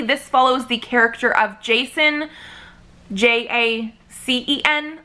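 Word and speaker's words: Jacen: follows the character of Jason, J-A-C-E-N. I think it's pronounced the same as like J-A-S-O-N.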